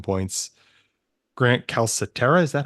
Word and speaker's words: Calcaterra: Grant Calcaterra, is that how you say it? I can never. Calcaterra. Calcaterra, okay.